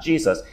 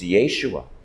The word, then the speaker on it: Yeshua: and the perfect son she would say his name in Aramaic his name is Yeshua not Jesus it's Yeshua can you imagine Jesus